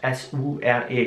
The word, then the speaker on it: sure: Hier ist es jetzt interessant zu sehen, dass das Wort S-U-R-E geschrieben wird, aber das S wird wie ein Sch ausgesprochen. Sure. Nicht so, sondern sure.